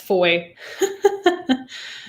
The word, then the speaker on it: Fowie: Oh, Fowie always trips people up. It's pronounced Foy.